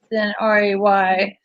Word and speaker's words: Rhea: Yeah, but it's spelled differently, so than RAY. So I like Right. that. Is it REI? it's RHEA. RHEA. Well, it could be Rita, but we pronounce. I was raised with it being pronounced Ray.